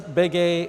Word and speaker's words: Begue: But if you want to Google me, my name is Bege. That's spelled Begue, and you can Google